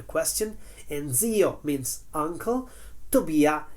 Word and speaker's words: Tobia: Tobia is an Italian name that rhymes with fattoria of the first line.